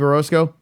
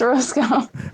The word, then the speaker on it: Orosco: What I did have on, I had on Steve Orozco. I'm probably saying his name wrong. Orozco, I think it is. Orosco? Orozco. Well, actually, you're a Mexican. How do you say his name? It's Orosco. Orozco.